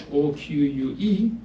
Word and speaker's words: Phoque: We don't spell it the same way. It's Phoque, but it's sound the same.